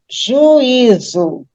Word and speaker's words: juízo: Próxima palavra, juízo. 3 sílabas, né? Juízo. Aí eu tenho o U e o I formando hiato.